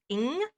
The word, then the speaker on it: Ng: So, this week we are doing the book Little Fires Everywhere by Celeste Ing.